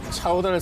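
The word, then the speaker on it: 乔丹: 큐사는 조던의 인지도를 활용해 조던의 중국어 발음인 차오단을 상표에 쓰지 말아야 합니다.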